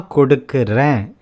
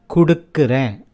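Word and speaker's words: கொடுக்கிறேன்: Na kodukkuren, I give. Listen to the ending a. Na kodukkuren. You'll hear it as kudukkuren as people speak.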